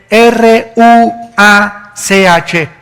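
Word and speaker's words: רוּחַ: y exhaló Isaac Qué cosa el ruaj que se escribe r u a c h ruach en el hebreo y se pronuncia igual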